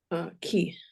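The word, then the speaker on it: כְּ: But in the Bible, it mostly shows up as ke.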